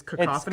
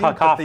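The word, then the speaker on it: Kakophoni: Well, so it's cacophony, cacophony, but they spell it in a weird way, right? But I don't like it. It's pronounced the same way as the regular word.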